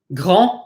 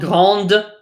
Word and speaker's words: grand: Grand, petit, long. Big, small, slow. You'll notice all these final consonants are not pronounced. This is not grande, but grand. We do not pronounce the D.